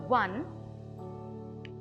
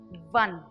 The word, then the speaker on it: one: you do now in this word one the first letter is a vowel but sounds as if it is a consonant P one you can compare the